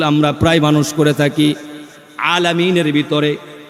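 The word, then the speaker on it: العالمين: প্রায় মানুষ করে থাকি আলামিনের ভিতরে এই আইনের উচ্চারণটা গলার ভিতর থেকে আসবে মাখরাজ অনুযায়ী উচ্চারণ হবে আমরা অনেকেই হামজা দিয়ে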